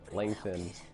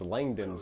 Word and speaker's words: Langdon: Langton. It's Langdon, sir. Langdon. And don't you fucking forget it!